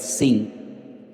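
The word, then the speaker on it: שׂ: tiene doble pronunciación, porque si arriba te encuentras un punto a la derecha es shin, y si te encuentras arriba un punto a la izquierda es sin, pues ahí encontramos a Sara,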